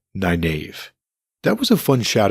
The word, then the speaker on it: Nynaeve: way that one would think her name is pronounced Nynaeve, but it's actually pronounced Nynaeve, but I drift.